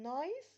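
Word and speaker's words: nice: ان هي مقطع واحد لان انا عندي في نايس ناي اي اي هي اللي اتقالت هي اللي اتنطق والاي ماتقالتش يبقى احنا بنعد اللي اتقال من الفاولز خلي بالكم عشان في حته مهمه هقول لكم عليها بنعد اللي اتقال وطلع صوته ونطقنا من الفاول كده يبقى كلمه نايس و سبول مقطع واحد بس طيب لو انا عندي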